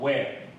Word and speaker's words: where: 以的哦，不过大部分的 native speakers 都会念 where， h 是不发音的哦 where。